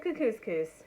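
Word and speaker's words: Kookooskoos: camp anyway welcome to camp cuckoo's coos it rhymes with moose that's also another good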